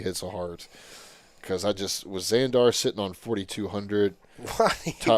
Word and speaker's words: Xandar: Yeah, so it is Xandar. Okay, so it was spelled with an X?